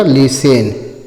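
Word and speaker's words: listen: अगला है एल आई एस टी इ एन। तो एल आई इ है तो ल पर छोटी की मात्रा ली हो जाएगा। और एस है तो टी साइलेंट हो जाएगा। एस है तो स हो जाएगा और टी साइलेंट हो जाएगा। इ की मात्रा है तो ए की लग जाएगा। ए इ से ए लग जाएगा और एन है तो न हो जाएगा। क्या पढ़ जाएगा? लिसन।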